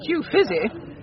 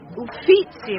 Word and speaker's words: Uffizi: Well, I didn't care much for that Uffizi. Uffizi, Mother. What? The Italians pronounce it Uffizi.